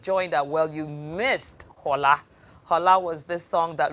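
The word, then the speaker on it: Xorla: revival choir youtube page just look for hola hola is spelled x o r l a you know just look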